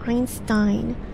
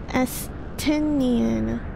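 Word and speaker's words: Estinien: this guy's name wrong I keep thinking his name is Einstein but it's astonian I can't it's in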